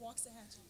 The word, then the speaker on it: Waxahachie: Waxahachie.